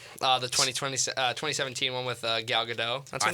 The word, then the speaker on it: Gadot: I thought it's Gal Gadot. You don't say the T.